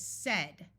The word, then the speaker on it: said: has other vowel sounds the most important one is said which has a short e the next most important word is the word again note that both of these A's schah which means they take on a muffled uh sound so this is again